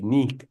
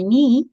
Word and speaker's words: knee: I hurt my knee when I fell. Remember the K is silent. I hurt my knee when I felt.